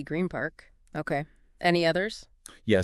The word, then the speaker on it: Green Park: Grima. With an M. Why? Because the N sound at the end of green comes right before the P sound in park.